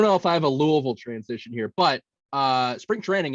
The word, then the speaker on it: Louisville: Last weekend I actually said Louisville, the Chicago guy. Oh, that'll get you. I got a producer in my ear saying, Max, never say that again. Never say that again. It's Louisville.